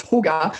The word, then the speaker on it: Jugar: I think it's Jugar. It means play in Spanish. I had a feeling it was Spanish and you'd pronounce the J as Jugar, but is Jugar like